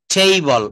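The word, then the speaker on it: table: টেইবল, আমরা সরাসরি টেবিল বলে ফেলি, আসলে কিন্তু টেবিল হবে না, এটাকে বলতে হবে টেইবল। সঠিক প্রোনাউন্সিয়েশন যদি করতে হয় তাহলে এটাকে আমরা এইভাবে বলতে হবে, টেইবল, টেইবল।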